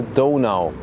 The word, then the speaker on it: Donau: spend close to the River danu or the Dono for the original pronunciation and you might wonder